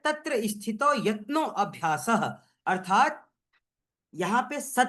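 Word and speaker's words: यत्नोऽभ्यासः: यहां पे गरिमा बहन या जो कोई भी देख पा रहे है अ शब्द यहां पे साइलेंट है। यत्नो अभ्यास है।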